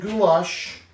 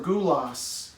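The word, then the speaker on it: gulyás: looks like paprikas or gulas even though it's pronounced with an sh and they share in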